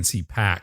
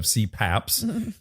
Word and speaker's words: CPAP: CPAP machine. CPAP. CPAP. Oh, and I'm saying CPAC.